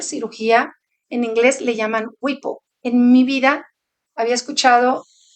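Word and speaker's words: Whipple: En inglés le llaman wiple. En mi vida había escuchado una cirugía de este tamaño. En español se pronuncia whiple y en inglés wiple.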